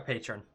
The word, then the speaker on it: patron: not a Patreon. A patron. Patron.